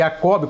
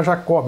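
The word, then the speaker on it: Jacobus: ver agora o armínio aqui pronuncia-se e a Cobi quando a gente é Portuguesa pode falar Jacob ou Jacó armínio armínio que nasceu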